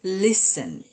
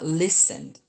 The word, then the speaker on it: listen: miss ini listen T-nya itu eh you don't pronounce the word T. So it should be listen. Thank you for listening to me. Not listening but listen.